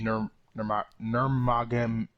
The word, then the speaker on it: Nurmagomedov: or fight rather, since Conor McGregor and Habib Nurmagomedov.